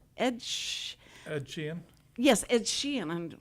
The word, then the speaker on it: Sheeran: think about noise but Ed Sheeran it it's Sheehan right Edge Ed Sheeran yes Ed Sheeran I'm gonna say it right